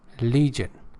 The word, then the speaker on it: legion: conflict discord disagreement and the fourth ward is legion it's not the g8g Legion and Legion air